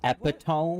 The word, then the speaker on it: epitome: I am the epitome of joy, kindness, and goodness, after all. Ma'am, it's pronounced epitome.